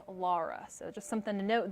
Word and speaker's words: Laura: want to point out the national hurricane center has retracted what they did have that original pronunciation it was laura and me being from the midwest that's how we pronounce it there we say laura but they just came out with that new pronunciation guide today and it is lara so just something to